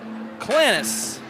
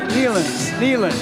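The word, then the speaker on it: Knilans: Let's see, what would that be? Clans. Is that one syllable? Look at this. Clans. Nealans. Oh, Nealans. Nealans, sure. That's a K-N-I-L-A-N-S. So there is that I-L in there, so you can see that in real time.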